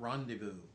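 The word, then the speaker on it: rendezvous: like this you know it's a Rand secret randevu okay and it's not something you could possibly spell phonetically um and I doubt there's any rules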